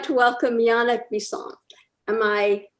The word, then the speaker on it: Yannick Bisson: thank you yeah now i'd like to welcome yannick bisson am i pronouncing it correctly oh yeah very good yannick bison but that's how my mom would say it